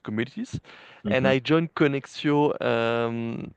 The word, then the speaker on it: Konexio: If you, if you want to get the French accent, it's Konexio. Connexion.